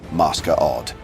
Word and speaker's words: Masquerade: bar/social club known as the Black Masquerade, pronounced Masker Odd.